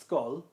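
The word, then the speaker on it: Schull: Um, that's most likely pronounced skull. Skull. Okay. As in an actual skull.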